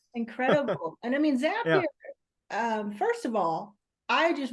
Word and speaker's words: Zapier: Like that's I mean, it's zap. You're zapping, right? Why I do know. people go to Zapier?